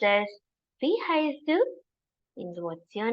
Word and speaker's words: Wie heißt du: It is pronounced as Wie heißt du?